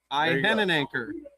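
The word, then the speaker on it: Iheanachor: Max anchor. Ian anchor.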